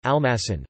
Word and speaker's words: almacén: penult, joven, virgin, metine, the great majority of nouns and adjectives ending with n are stressed on their last syllable, capitan, almacen, jardín, corazón.